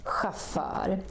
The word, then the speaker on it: chauffeur: There are not so many, but some of them are also pronounced with this sound. For example, chauffeur, which is, we say,